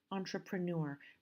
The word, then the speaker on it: entrepreneur: As you can see, the word stress already I have marked and it's on the last syllable. Entrepreneur.